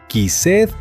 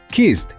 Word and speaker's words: kissed: El error número uno de los estudiantes es leer cada letra y decir quised o sabed. Prohibido. En inglés esa e suele ser muda o muy suave. Kissed suena casi como si terminara en T.